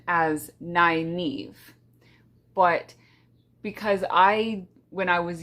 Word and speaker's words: Nynaeve: In the glossary of the book, it has her pronunciation as Nynaeve, but because when I was younger, I never read the glossary, I didn't know that, and I have always pronounced it Nynaeve.